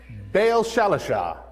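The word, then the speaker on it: Baal-shalishah: man from baal or say that for me bail shalasha that's what i say it's pronounced as and you have to believe me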